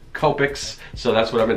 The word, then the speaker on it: Copic: your add just like I'm always confused whether it's kopecks or topics everyone keeps telling me it's kopecks so that's what I've